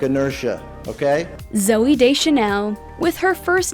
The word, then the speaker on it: Deschanel: get the hang of it so no more da chanel if the fans can help it uh and deschanel it's french yes emily radakowski born in london